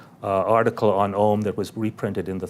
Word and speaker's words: Om: And as HPB points out, it could be a 3-syllabled word, a 2-syllable, it can be A-U-M. Remember, it's starting, imagine, it's like the 3 worlds, right? Om, you're ending with the dental, you're starting in the back. So air, is going through the palate, becoming a U, and then the dental, the clip, but it's a nasal M, so it's vibrating constantly.